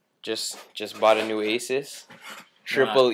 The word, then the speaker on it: Asus: just bought a new Aces Triple E it's pronounced Jesus like like Jesus Jesus EPC right here yo